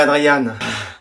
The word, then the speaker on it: Adrien: Tu préfères que je dise Adrien ou Adriane? Comme vous voulez. Adrien, ça va? Je préférerais Adriane.